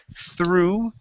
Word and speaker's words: threw: went to the T you said true instead of true tongue between your teeth through true okay almost